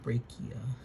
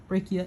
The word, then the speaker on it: brachii: I think it's the biceps brachia, which is, or brachia, it's spelled this way, brachii, the biceps brachii muscle, I believe.